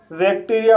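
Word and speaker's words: bacteria: means होता है उज्जवल बैक्टीरिया इस वर्ड में बी को व पढ़ेंगे ए को ए पढ़ेंगे सी को का पढ़ेंगे टी को टा पढ़ेंगे ई को ई पढ़ेंगे आर को रा पढ़ेंगे आई को ई पढ़ेंगे ए को आ पढ़ेंगे इस तरह से इसे बैक्टीरिया पढ़ेंगे और बैक्टीरिया का मतलब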